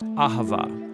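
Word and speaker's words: אהבה: languages as it is in ancient hebrew it's pronounced ahava it most basically refers to the kind of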